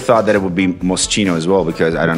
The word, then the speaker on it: Moschino: CHI is key in Italian. Yeah. Okay, yeah. So it's key. Yeah, Yeah. you're correct. Moschino.